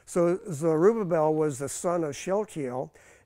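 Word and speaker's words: Zerubbabel: Joshua the high priest so zorobabel pronounced zerubabel with a it's a soft B uh means born at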